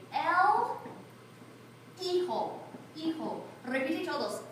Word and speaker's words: hijo: So you're going to start and you're going to say el hijo. Hijo. Repite todos. Hijo. Hijo. Please do not say, you nunca pronuncia la H, otherwise you're going to sound like a donkey.